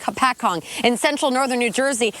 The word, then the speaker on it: Hopatcong: the ice no yeah no you didn't say it right but you know what it's a it's a difficult thing to say it's a pat Kong ho Pat Kong Lake Hopatcong in central Northern New